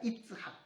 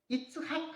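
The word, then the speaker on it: יצחק: 그래서 이삭할 때도 이츠학이 아니고 이츠학이라고 발음해야 됩니다. 그래서 좀 가래 끓는 소리를 좀 내야 됩니다.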